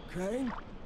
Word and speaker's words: Crane: no my name's crane crane crane rhymes with train and brain and sign and Grain and rain and plane and the other kind of plane and can I come